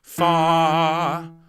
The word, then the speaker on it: far: plenty of oomph please and far has one syllable please far okay make it a long r sound just before the end of the sound just tuck it in with your throat so then ready three